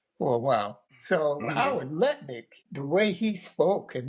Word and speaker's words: Lutnick: Did I pronounce that correctly? Yeah, Oh, Lutnick.